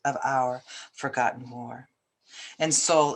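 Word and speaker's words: Seoul: our forgotten war and soul is spelled s-e-o-u-l like the capital one more foam about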